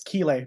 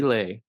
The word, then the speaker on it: Kiley: we were oh and it's keay by the way uh as far as like keay yep oh that's quite a flare yeah even though it's quite it's spelled k i l y right and so what